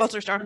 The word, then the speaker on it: Wolterstorff: Wolterstorff.